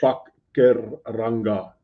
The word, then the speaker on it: Pakuranga: Vanita has just phonetically spelled the word Pakuranga. So it's not what Pakuranga, it's Pakuranga. It's how you pronounce it.